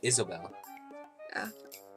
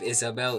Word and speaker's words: Isobel: I'm pretty sure you would just pronounce that Isobel. Instead of Isabel, Isobel.